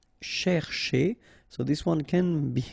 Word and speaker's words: chercher: here, this first part, you've got to pronounce it cher, okay? But the second part, because it's ending with a R like that, so it should be e, so chez, okay?